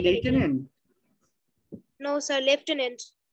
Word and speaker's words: lieutenant: Lieutenant. লেফটেন্যান্ট কেন বলতেছো তুমি? সে এখানে তো এফ নেই তার জন্য একবারে বলা মানে মুখস্থ করার জন্য বললাম।